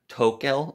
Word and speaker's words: Tokel: But this newer coin that we're going to be talking about, I believe it's pronounced Tokel or something along those lines.